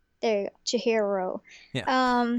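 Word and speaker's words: Chihiro: the programmer Jihiro there you go Jihiro yeah um when he's trying to become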